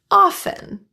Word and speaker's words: often: Silent T words that have FT. Often and soften.